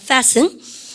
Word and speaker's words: fasten: 우리 반 발음 갖다 붙여서 fasten. 근데 이거 발음하실 때 혹시라도 우리반요 fasten 혹은 그러니까 우리반이 fasten 안 하고 근데 fasten 혹은 그러니까 fasten 그러면 진짜 혼나요. T 발음 묵음입니다.